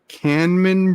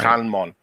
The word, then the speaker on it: Kanmon: We're going to go see Canman Bridge, I think. Canman Bridge? I wonder if I'm pronouncing it It's right. Kanmon.